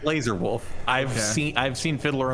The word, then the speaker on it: Lazar Wolf: is it now Jordan is it maybe Lazar wolf it's it's laser wolf I've seen I've seen